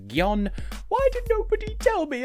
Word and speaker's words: Gjon: too polite by half i swear so either pronouncing it jon but the xh e in angela perister's name